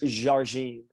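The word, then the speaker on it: Jardim: How do you pronounce Simone's last name? It's now I'm a country white boy from Alabama, but it's Jargine.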